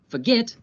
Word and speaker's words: forget: Listen to how the last syllable of each verb is stressed. Begin, forget, submit. Listen to where the stress is again. Begin, forget, submit. The last syllables are stressed, so we have to